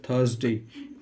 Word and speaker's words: Thursday: उसके बाद होता है थर्सडे, THURSDAY। हिंदी में इसका प्रोनाउंसिएशन लिख देता हूँ मैं, थर्सडे।